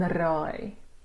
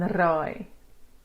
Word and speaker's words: raai: The long I that you get in cry is high, cry, and raai. High, cry, and raai.